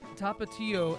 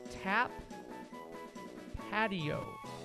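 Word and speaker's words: Tapatío: 6 and 2/3 to to to rate a bunch of hot sauces, and this pronounced tapato as tap patio.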